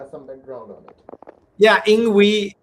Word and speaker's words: INGWE: Yeah, INGWE, the pronunciation comes from Zulu.